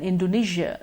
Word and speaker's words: Indonesia: Malaysia and Indonesia lie in Asia Malaysia and Indonesia lie in Asia now this may sound a